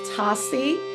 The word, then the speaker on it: Tosi: So my first name is Tosi.